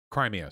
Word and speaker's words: Crimea: dots an open transcript no crimea sorry as in crimea river i mispronounce everything you're